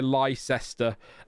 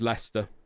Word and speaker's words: Leicester: But it is I've heard people say Lester. Um but it is it is Leicester like the cheese eyes on Hawker.